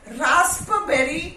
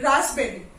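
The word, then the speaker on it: raspberry: not pronounce cupboard okay and this रास्पबेरी नहीं रास्पबेरी रास्पबेरी okay so receipt psychology कू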